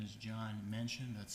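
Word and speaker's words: Menchen: would uh good evening my name is John mention that's spelled m-e-n-c-h-e-n I plane um I've only lived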